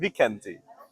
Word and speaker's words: Vikenti: And a fun way to remember it is wee cunty. So a little cunt, which I'm not, but phonetically it's similar. Vikenti. I think I'm just gonna remember Vikanti.